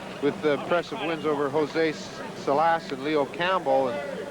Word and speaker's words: Salas: And of course, in '72 was his biggest year, with impressive wins over Jose Salas and Leo Campbell, or Salas is the right pronunciation.